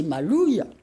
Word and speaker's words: maloya: appeler vraiment Malonga d'ailleurs les anciens disaient malouilles disaient pas maloya ils aimaient parce que le haut se prononce où et le dernier la